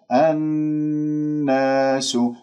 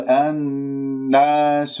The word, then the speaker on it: الناس: بين الفكين، كما آمنا الناس، الناس، لا تقول الناس، لا تنبر النون المشددة، أنت جبت الغنة مع النون المشددة أكمل ما تكون كما سمعت وخلص ما في داعي للنبر.